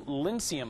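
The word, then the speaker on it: Lincecum: Tim Lincium, I believe, is the pronunciation of the last name.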